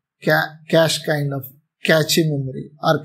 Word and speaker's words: cache: cache memory uh like it will be pronounced as cache memory CA as such cash kind of catchy memory